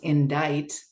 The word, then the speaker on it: indict: full-grown adult I was looking at the word i-n-d-i-c-t which looks like indict but is pronounced in diet and I'm a full-grown